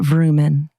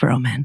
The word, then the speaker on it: Roman: we're to this point my name is not Vrooman it is Roman and then you're like